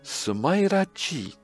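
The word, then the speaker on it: Smileage: Sumairaji. Oh, yes. Japan. Stop using words you can't pronounce yourselves.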